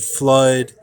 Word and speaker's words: Fludd: tight under the Robert flood spelled with uh a u and an extra D without the double o so in writing and thinking you would say that as without double o u d okay that's how you